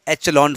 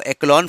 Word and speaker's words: echelon: तो बड़ी मैट्रिक्स अगर है, तो उसमें हम एक फॉर्म लेते हैं एचलॉन फॉर्म। कुछ लोग उसको एक्लॉन फॉर्म कहते हैं, कुछ लोग एचलॉन फॉर्म कहते हैं।